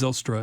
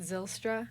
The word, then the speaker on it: Zylstra: Is it actually how you say it, Zylstra? You can say it that way, yeah. That's fine. There's no wrong answer. Okay. Zylstra. Purists would probably say that's not pronounced right, but how would they say my it? uncle isn't here. Zylstra. Zylstra. Yeah. That's because of the Y.